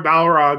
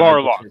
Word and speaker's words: Barlog: were responding to Cory Balrog about it. Or how I always pronounce his name wrong. I feel so bad. Barlog. Cory Barlog. He says he's been called Balrog so many times.